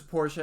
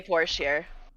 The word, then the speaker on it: Porsche: that either because right because porsche is german um people do say porsche you don't they people it's a porsche it's important i know that i took german i